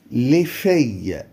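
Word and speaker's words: les filles: طيب لي في البنات، لي في البنات، لي في البنات، لي في. ولاحظوا هنا ان الاي ال ال بتتنطق اي، لي في، لي في يعني البنات، لي في.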